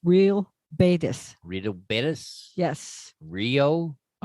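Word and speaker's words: Real Betis: again the team yeah I believe the it's pronounced real bis real betus yes Rio r e a l real betus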